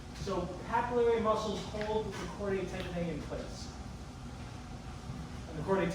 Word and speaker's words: chordae tendineae: The chordae tendineae hold the valves and prevent them from flapping the other way.